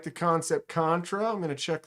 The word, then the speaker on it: Kansept: David says it's Kansept. Their customer service helped him pronounce it when he told him he was deaf. Kansept.